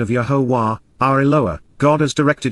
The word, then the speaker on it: Yahowah: unite says Amar promises yahwah yahwah the proper pronunciation of yahwah our eloa God has directed in his Torah